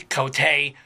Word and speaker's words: Coté: mark over the Ian Cote yeah and people don't pronounce it and just call me coat I mean that's just